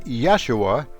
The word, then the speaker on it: Yeshua: has been informed by Jesus pronounced Yeshua in his native language I believe in Yeshua's